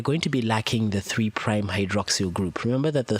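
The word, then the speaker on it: 3′: or nucleotides have a three prime end and a five prime end this is not a three apostrophe no it's no it's repronounced as three prime prime as in optimus prime so these nucleoside reverse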